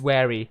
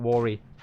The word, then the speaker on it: wary: drop more hip puts i always said rory because it's w-r-a-r-y and obviously it's just my intuition is pronounced as worry but it's wary not worry do i like any